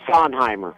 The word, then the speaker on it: Sondheimer: but maybe you can assist us on the pronunciation of your last name please sir yes it's Simer Simer okay fantastic well sir again thank you